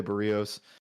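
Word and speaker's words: Berríos: minus 132 favorites on the road behind Jose Barrios I said it right this time to start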